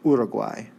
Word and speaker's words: Uruguay: stadium all right so Uruguay or equai I think is more locally how it's pronounced but we'll go with the more English version Uruguay ok let's look here